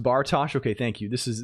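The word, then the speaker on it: Bartosz: Um, pronounced Bartosh.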